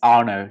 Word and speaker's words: Arnaud: like you would have yeah it's correct it's called it's Arno so perfect thank you